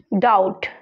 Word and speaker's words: doubt: जितने भी आपको रेड बी दिख रहे हैं ये सारे साइलेंट है यहाँ। DEBT, क्या बोलेंगे इसको? Date, date. DOUBT, डाउट।